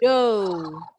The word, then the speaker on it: dough: GH-nya juga silent. Bacanya do. Do bacanya.